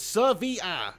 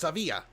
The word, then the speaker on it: Sevilla: fair uh football we brownie says ser vr it's pronounced savia savia and all that